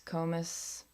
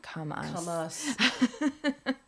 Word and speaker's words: Comus: Krewe of Comus Thomas comas spell it Co mus comas comas is what I would I was doing comas not come on us yeah comas Co mousse